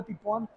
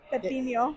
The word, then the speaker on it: pepino: She said agua de pipón, and Elazar started laughing at her and was like, "You don't even know how to say it. It's agua de Pepino.